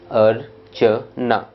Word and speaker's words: अर्चना: तो नाम बनता है अर्चना। उच्चारण करेंगे तो भी सिंपल है, अरचना।